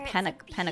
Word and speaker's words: Penacony: I've been pronouncing it wrong. Penacony.